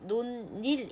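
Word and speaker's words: 논일: 예를 들면 요 우리가 이 단어 논 일이 라는 단어를 노닐 이렇게 발음을 하고요 그 다음에 이 같은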